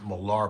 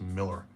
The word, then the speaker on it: Millar: I always used to pronounce the guy's name Millar, but apparently it's pronounced Miller. M I L L A R, you know who he is, Mark Miller.